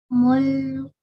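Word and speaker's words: مُلْكُ: mulku Very nice. Mulku. mulku And we do not stay on the lam. We just say mulku.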